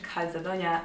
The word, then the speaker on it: Calzedonia: przechodzimy do sklepu Calzedonia nie wiem czy to się mówi Calzedonia czy Calzedonia A wiecie ja sprawdzę Calzedonia tak powinno się to wymawiać więc Calzedonia Witam